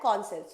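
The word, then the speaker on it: conscience: ई सी ओ एन मैं इसलिए बोली आप साइंस बोलोगे नहीं बट इसकी स्पेलिंग को याद रखने के लिए मैं बोल रही हूं कौन भी रहेगा और साइंस भी रहेगा बट हम लोग इसको डायरेक्टली बोलेंगे कॉन्सेंस कॉन्सेंस ओके कॉन्सेंस चलिए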